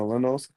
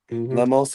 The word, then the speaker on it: Lemos: Next, you got Tatina Suarez versus Amanda Lenos. Lemos. I'm pretty sure I said the name wrong.